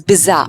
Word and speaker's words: bizarre: Next word for the day is bizarre. But if I talk about the pronunciation part, you'll give a less stress on the R.